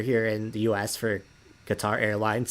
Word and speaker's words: Qatar: as well in that some people want to pronounce it cutter mainly the British pronunciation that I hear the commercials that we hear here in the US for Qatar airlines say it has